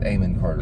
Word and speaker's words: Amon Carter: the porch Eamonn Carter how do you say Eman Carter amen well that's how they say It Eamon Carter yes it's a history